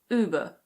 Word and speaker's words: Uber: this one is Uber. Uber. In American English the R is pronounced so it's Uber.